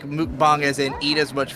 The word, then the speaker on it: mukbang: Or mukbang, that's how you're supposed to pronounce it. Everybody says mukbang, but it's mukbang. I looked it up. Mukbang.